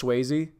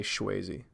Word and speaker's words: Swayze: I do enunciate it's I know it's Swayze like to say Chazy I should probably say his name it's Swayze SW hey yze look Swayze walks in